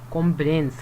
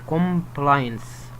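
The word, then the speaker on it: compliance: ليجل كومبلينس او ايه كومبلينس او كومبلاينس. الافضل كومبلاينس على مقطعين، والسي نطق سي، ومعناها امتثال او الامتثال القانوني.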